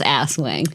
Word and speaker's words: Aswang: something like, don't forget I thought it was pronounced Aswang, to be honest, from how it's spelled. Spelled Aswang. There's not two S's in there. I don't know. If it starts with an AS and ends with a wang, it's Aswang. So it is, and I